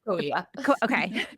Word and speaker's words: Sequoia: You'll correct me on that if I'm wrong on that pronunciation. Visitors. Yeah, it's Sequoia.